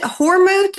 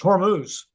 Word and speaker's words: Hormuz: Um, is it Hormouth or Hermouth? It's Hormuz with a Hormuse.